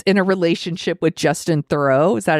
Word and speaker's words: Theroux: And she's in a relationship with Justin Theroux. Is that how you pronounce his name?